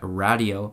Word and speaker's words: Radio: a new single out it's called radio or as they pronounce it on the song radio this is the second